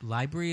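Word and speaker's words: LBRY: real quick library like library is how you pronounce it l as in Lewis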